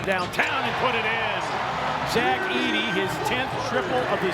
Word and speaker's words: Zach Edey: The drop back and Zack Edy, you said it right, partner.